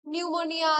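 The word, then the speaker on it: pneumonia: যেরকম আমরা জানি যে নিউমোনিয়া, সাইকোলজি, সবকটা ওয়ার্ডের আগে কি থাকে? পি থাকে, তো পিটা সাইলেন্ট থাকে।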